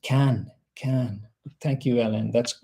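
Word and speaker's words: Caen: So, it's pronounced can.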